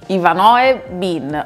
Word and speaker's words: Ivanoe Bin: Si tratta di Ivanoe Bin. Ho chiesto, si pronuncia così letteralmente, proprio onde evitare di fare figuracce.